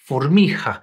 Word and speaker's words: formica: So, for example, the word for ant, formica, is pronounced formija.